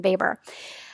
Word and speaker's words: Weber: And so one theorist by the name of Max Weber, and I know it says Weber, but you actually pronounce his name Weber.